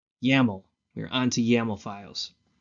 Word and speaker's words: YAML: YAML. We're on to YAML files. What is YAML? Proposed by Clark C. Evans in 2001 as an alternative to XML. It rhymes with camel.